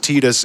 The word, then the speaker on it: Tidus: It's canonically pronounced Titus, and I will die with him on this hill.